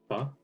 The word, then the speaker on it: pho: Pho? You said it wrong way, man.